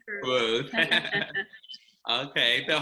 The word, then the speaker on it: Cruz: And today we have director Ryan Lathan and actress Jackie Cruz. Look, did I say that? I tried to use the Spanish pronunciation. I like it. I like it. This Cruz is fine, Cruz.